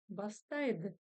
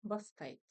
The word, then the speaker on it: бастайды: Бастайды. Бастайды. Ну, или иногда бастайт. Да?